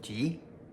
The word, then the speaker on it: 吃: 吃 has an alternate pronunciation of ji.